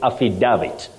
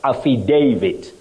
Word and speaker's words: affidavit: agree with me that what we commonly hear as we grow up even when they are learning it's affidavit but Betty this word is pronounced as affidavit affidavit just like we have Davis do we say Davis it's Davis Davis David not David so that a takes its name a in that word Aid davit David not